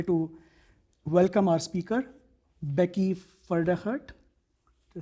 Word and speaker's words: Pferdehirt: welcome our speaker, Becky Pfedehirt. Did I say that right? That is. I always told people that you pronounce my last name, the P is silent, like in Pfizer.